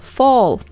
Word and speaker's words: fall: Это глагол fall. И читается как долгий звук О в середине. Fall.